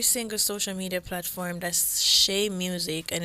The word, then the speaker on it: Xhae: That's Shay Music, and it's spelled XHAEMUSIC.